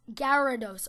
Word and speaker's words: Gyarados: minute and explaining to this guy like it's gyarados ok pronounced enough to me guerra de luto reduce